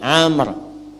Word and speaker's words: Amr: Nah, ini Amr. Nah, kalau dibaca begini Amr namanya. Kalau wawunya hilang, bacanya Umar.